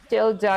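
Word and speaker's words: tilde: Tilda is the pronunciation. Oh, Tilda. Oh, so it's not title, it's Tilda.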